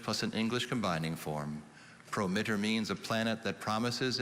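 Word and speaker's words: promittor: latin to english plus an english combining form prometer means a planet that promises in a horoscope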